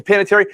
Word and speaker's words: Panettiere: Hayden, how you pronounce her last name? Panettiere or whatever. Yeah, Panettiere.